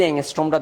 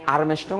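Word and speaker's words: ångström: সো এটা আরম্স্ট্রম না এংস্ট্রম। তো তাহলে এই এটা এই ওয়ান এংস্ট্রম ইকয়ালটু কত বলতো? ওয়ান এংস্ট্রমট এখানে বলা হচ্ছে আমরা মিটার যেহেতু দেওয়া আছে তাহলেটান ইনভার্স 8 সেন্টিমিটার।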